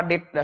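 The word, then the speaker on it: data: এই ডেটা শব্দটার সাথে কিন্তু আমরা অনেক পরিচিত। আমরা ওই আইসিটি যখন পড়ছি তখন ডাটা বা ডেটা, সঠিক উচ্চারণটা ডেটা আর কি, ডাটা না।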